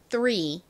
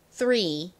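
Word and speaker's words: three: R이 뒤에 모음과 만났을 때는 그냥 리 이렇게 발음이 되지 않고 리 요렇게 소리가 나요. 리. 자, 발음해 볼게요. 3. 한 번 더 해볼게요. 3 아니고요. 3.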